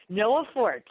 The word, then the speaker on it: Noa Fort: is limited oh they are is different okay Noah fort is the young lady's name now let me read these off for you the web site is Noah fort calm and it's spelled again and Oh a